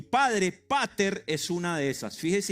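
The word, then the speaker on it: πατήρ: En griego, la palabra para padre es pater. Así como se escribe, p a t e, tilde en la e, r.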